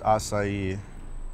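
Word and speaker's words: açaí: Hmm, dude, these acai bowls are pretty good. It's pronounced acai.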